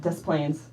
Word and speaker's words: Des Plaines: Yeah, Des Plaines. Because you wouldn't pronounce the S in either word.